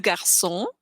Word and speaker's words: garçon: We have le garçon is the boy. So because we have an A right after it, it's like G in get.